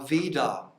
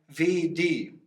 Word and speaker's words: Veda: Normally it is pronounced Va, but when there is this, wie sagt man, Strich, this line here, then the A becomes an E.